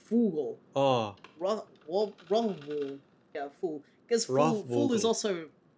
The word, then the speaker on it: Vogel: Oh, and Vogel is pronounced Fugel.